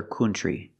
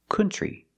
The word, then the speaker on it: country: cannot say another country the word is not pronounced country it's pronounced country we don't use the uh sound like foot and book we use the uh sound like cup and up and cut this is a relaxed sound uh C country country and we see the TR R makes a chch sound like chicken plus the r tree together country so pronunciation another country